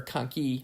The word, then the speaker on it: conchae: here we see our middle nasal conchae or conky I should say is though the way Americans pronounce it are actually parts of your ethmoid